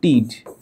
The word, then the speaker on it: tid: আরেকটা জিনিস আছে, টিড নামে একটা শব্দটা আছে, টিড, TID, উচ্চারণটা হচ্ছে টিড, একটু পরে পড়বা।